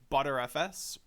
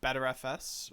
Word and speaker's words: Btrfs: especially or officially the B tree file system pronounced as butterfs uh better FS or even uh butter fuss you your pick I I guess I'll call